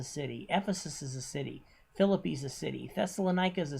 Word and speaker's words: Philippi: of macedonia like philippi that's right it's pronounced philippi uh berea thessalonica then